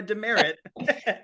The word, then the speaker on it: DeMerritt: isn't it cool my my last name is awesome huh it's like a it's a military punishment but it's also just like a regular name I actually was thinking that as I pronounced it I was like oh like a demerit exactly I mean how